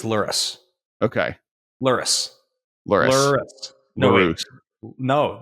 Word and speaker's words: Lurrus: Like Lurrus, like rhymes with like no, I keep on thinking of similar words. Lurrus rhymes with like hurt us. Nope. Taurus. Nope. What the hell does Lurrus rhyme with? Lurrus? Tourists. Tourist? I don't know.